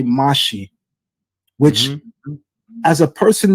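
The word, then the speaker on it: משיח: So one of the things that you just enlightened me on is that the pronunciation drops the chet in Samaritan Hebrew. And so that you would essentially say Mashi, which Mhm.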